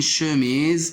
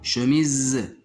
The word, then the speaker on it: chemise: on le prononce mais à la fin il se prononce pas chemise un cheval un melon